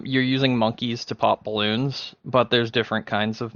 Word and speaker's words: Bloons: balloons tower defense six is it balloons or boots balloons but it's it's about balloons it's about balloons that's just the way it's spelled that's just the way